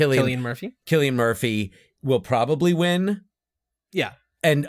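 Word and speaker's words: Cillian Murphy: it sounds like chill God how do you pronounce his name chillan Killian K kilan Murphy Killian Murphy will probably win yeah and upon my rewatch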